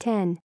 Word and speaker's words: iPhone X: pay $1,000 for the iPhone X on Tuesday Apple announced three new phones the iPhone 8 iPhone 8 plus and the all screen iPhone X pronounced 10 no we don't know